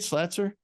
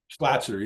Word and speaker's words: Slatzer: Please note, Chloe, that Marilyn Monroe Red Book of Secrets did not exist until 1974, the year Robert Slatzer, is that how you say it, Slatzer? Slatzer, yeah. Published The Life and Curious Death of Marilyn Monroe.